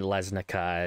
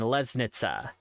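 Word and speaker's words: Lesnica: K are interchangeable however in Slovenian specifically which is where these names come from the C is actually pronounced with what I would call just a TS so it's not hornica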